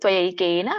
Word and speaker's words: ತ್ವಯೈಕೇನ: ರಿದಂ ಅಂತರಂಹಿ ವ್ಯಾಪ್ತಂ ತ್ವಯೈಕೇನ ತ್ವಯೈಕೇನ ಇದನ್ನ ಬಿಡಿಸಿದಾಗ ತ್ವ ಏಕೇನ ಕೂಡಿ ಹೇಳಿ ತ್ವಯೈಕೇನ ದಿಶಚ ಸರ್ವಾಹ ಸೋ ಅಲ್ಲಿ